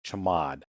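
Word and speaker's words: chmod: It's usually pronounced chamad.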